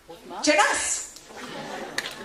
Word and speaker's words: Jeunesse: By the way, what rhymes with success? Jeunesse.